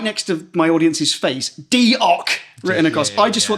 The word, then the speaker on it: diolch: So for diolch, they had DEE in caps, hyphen, OCK. So diolch.